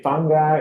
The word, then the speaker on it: fungi: me too me too there actually are three corre correct pronunciations it can be fungi which is I guess British or fungi or fungi and I've actually heard all three are legitim and acceptable yeah so we mostly say